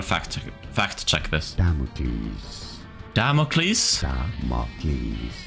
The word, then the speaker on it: Damocles: Damocles. Stress on the first syllable in the dance.